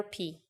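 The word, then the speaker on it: πι: number starting with 3.14 most English speakers call it Pi but now you know its real name is p it comes from the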